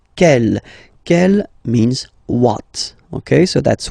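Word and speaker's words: quel: So interrogative here you get the masculine form and it's kel means what.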